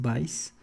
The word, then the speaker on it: Bayes: Me parece que la pronunciación correcta es Bayes, pero pues vamos a decirle Bayes aquí entre los cuates.